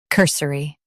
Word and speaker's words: cursory: Cur, s, ri, cursory. Emphasize cur and keep s quick.